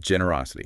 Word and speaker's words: generosity: Yes, think of generous. The stress is on GEN, but generosity.